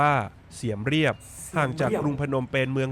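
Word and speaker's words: Siem Reap: หิน นครวัด อยู่ ที่ เมือง เสียม ราช หรือ ชื่อ ท้อง ถิ่น ออก เสียง ว่า เสียม เรียบ ห่าง จาก กรุง พนมเปญ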